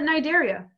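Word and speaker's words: Cnidaria: is actually called uh-huh the C is silent Thank You Ivan yeah it's called a nidaria alright yeah I'm here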